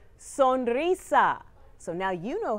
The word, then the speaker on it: sonrisa: Repeat after me and you don't have to roll the R. Sonrisa.